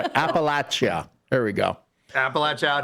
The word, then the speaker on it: Appalachia: So we were deep in Appalachia lore. And I heard you pronounce it Appalachia.